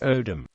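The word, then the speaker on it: Oldham: alom this suggests that he pronounced his name as the local accent in oldum still tends to do as odm owls are also to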